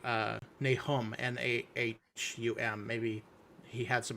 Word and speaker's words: Nahum: The pronunciation that they give for this in the pronunciation guide that's at the end of the Book of Mormon is Nahum. And so, what was that one you just said, Walker? Yeah, it was Nahum, Nahum.